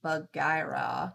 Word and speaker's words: Buggyra: Oh, Buggyra is pronounced Buggyra.